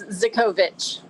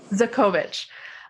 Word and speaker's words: Zokovitch: Did I pronounce that correctly? It's Zokovitch. Zokovitch. Yes.